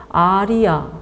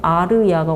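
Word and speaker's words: आर्य: 그래서 아리야 혹은 아르야가 원래 발음입니다만 아리야라고 불렀던 거예요.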